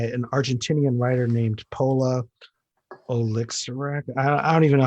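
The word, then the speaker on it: Oloixarac: called Mona by an Argentinian writer named Paula Olixirac. I don't even know how to say her last name. Olixirac, Olioshirak. Mhm. Pola, it's Olixarac.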